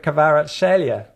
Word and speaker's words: Kvaratskhelia: And then, deep breath, obviously lots of talk about Kavica Kvaratskhelia.